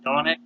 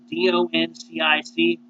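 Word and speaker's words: Dončić: Should the Suns take, how you say his name, Donic? Doncic? Donic?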